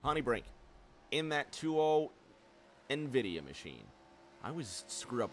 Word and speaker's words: NVIDIA: Brink in that 20 Nvidia machine I was screwed up with that and I did look this up because I was pronouncing it wrong for the longest time it is NVIDIA he sits in second